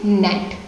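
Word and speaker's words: gnat: इसमें जी लेटर है, साइलेंट रहता है। जी लेटर जो है ये साइलेंट रहता है, तो इसको हम क्या उच्चारण करेंगे, इसको उच्चारित कैसे करेंगे, नेट, इस तरीके से, ठीक है।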